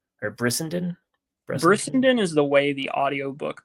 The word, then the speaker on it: Brissenden: Bressenden or Bressenden, Brissenden is the way the audiobook pronounces it, so I'm Brissenden.